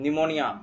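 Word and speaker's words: pneumonia: निमोनिया, pleuro निमोनिया। पिनोनिया Nino, P silent रहता है। और निमोनिया।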